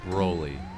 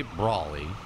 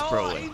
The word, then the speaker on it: Broly: It's pronounced Broly. Some people say Brawly, but that whole movie, they say Broly. Well, it's Broly.